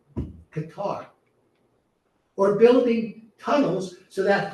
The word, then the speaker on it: Qatar: rooms in Qar and the proper pronunciation by the way is Qar. Cemetic words are accented on the back. Qatar or building tunnels so